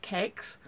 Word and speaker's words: CeX: I saw was a cex which is actually supposed to be pronounced cakes because it's a computer entertainment exchange or computer exchange they're